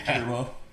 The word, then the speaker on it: Turbaux: And his name is spelled Turbaux. Yeah. Turbo. Yeah, he's funny.